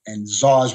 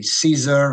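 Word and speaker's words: Szar: So I was pronouncing it Tsar. And guys were calling me Caesar and Cesar. And I said, nah, I dropped the Z.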